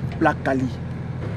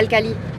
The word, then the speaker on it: plat Cali: Il faut dire plat Cali. Pas le Cali? Non. Plat. Plat. Ka. Ka. Li. Li. Ça fait plat Cali.